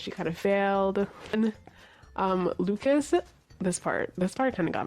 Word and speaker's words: Lucas: Okay, and then we meet Isaac, who is Lucas in Skam France. I don't know what to call him. Luca or Lucas? Because they say Luca, like the S is silent, right?